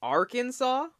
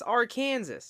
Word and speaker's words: Arkansas: Kansas? Arkansas? It's Arkansas.